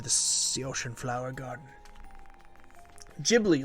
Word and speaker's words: Ghibli: G but the Creator Miyazaki pronounces it with a soft G that's funny okay okay